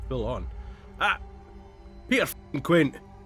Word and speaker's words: Quint: Peter f***ing Quint! I need to pronounce the T, don't I?